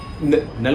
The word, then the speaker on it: Knull: पापा नल नहीं, नल मतलब KNULL, वो वाला नल, बट के साइलेंट है उसका।